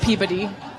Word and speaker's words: Peabody: It's spelled Peebuddy is how it sounds. Yes, Peabody.